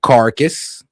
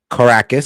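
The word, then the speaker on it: Caracas: Venezuela early this morning, the capital city of Carcus or well, just making sure I pronounce Yeah, Caracus.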